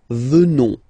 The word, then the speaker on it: venons: O-N-S, remember, classic ending for nous at the present form. Final S, not pronounced. So, you will get the sound. Venons.